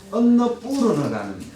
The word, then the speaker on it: 안나푸르나: 그리고 트레킹으로 많이 찾고 있는 안나푸르나. 안나라는 말은 곡식이라는 말이고 뿌르너, 푸르나라고 하는데 안나푸르나. 원래는 언너푸르너라는 발음입니다.